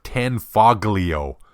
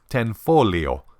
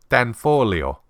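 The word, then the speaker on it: Tanfoglio: this is one that I've heard butchered as ten foglio it's actually ten folio tfolio the G in tan folio is silent these guys make everything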